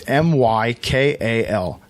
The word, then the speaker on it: Mykal: It's Mykal.